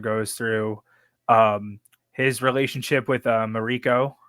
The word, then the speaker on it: Mariko: The whole journey that Blackthorn goes through, his relationship with Mariko, is that how you say her name? Mariko, yeah. Yeah, Mariko.